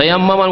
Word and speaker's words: তায়াম্মুম: আর এই তায়াম্মুম করাকে আমাদের দেশের আবার বিকৃত ভাষায় তয়ম করা বলে, শুনেছেন না? তয়ম করা নয়, তায়াম্মুম করা, শব্দটা একটু উচ্চারণ করতে কঠিন।